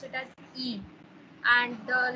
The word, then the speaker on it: y: Y, और उस Y letter को हम and के लिए जब हम उसको pronounce करते हैं, we do not say Y, we say E. We call it E.